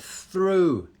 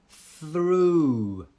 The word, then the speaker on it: through: Through, somebody's put through, that's the word, through. Ooh, that's that ooh sound, ooh, through.